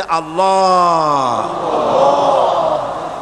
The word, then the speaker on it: আল্লাহ: পাকের নামের উচ্চারণ হচ্ছে আল্লাহ মুখটা একটু গোল হয়ে যাবে বলেন আল্লাহ আল্লাহ সুবহানাল্লাহ পৃথিবীতে বিভিন্ন